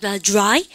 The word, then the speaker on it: dry: 발음이 dry.